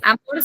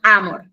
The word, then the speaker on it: amor: Y acá lo único distinto que en la palabra amor en realidad en latín tiene su acentuación, el sonido fuerte en la a. Entonces, no es amor, sino amor.